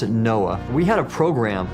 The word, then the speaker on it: NOAA: For example, when I was with the National Oceanic and Atmospheric Administration, we pronounced it NOAA.